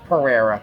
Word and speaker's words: Pereira: hi guys this is how do you say your last name pereira okay i got it right perfect because i was